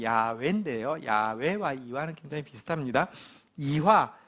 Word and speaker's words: 야훼: 저자는 이와라는 분인데, 이와는 우리 성경의 하나님 이름의 정확한 발음은 야훼인데요.